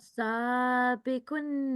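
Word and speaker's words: سَابِقُونَ: Okay, seen is followed by a blank alif, and it is acting here as alif maddiya. Okay, so 2-second elongation is required here. So pronounce this word again, please. Sabikun Seen should be prolonged.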